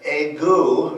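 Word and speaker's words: ague: they called the uh auu it rhymes with flu as far as I can tell but it was uh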